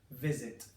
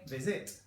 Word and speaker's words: visit: strongest okay visit it visit I'm stressing the front of it I'm not saying visit if I was saying visit I'd be stressing the back of it and then I would